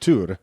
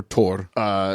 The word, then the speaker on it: Thor: I think it's pronounced Tur. It's pronounced a lot of things. Well, there's a lot of different, but yeah, you're absolutely right. Tur. And or Tor.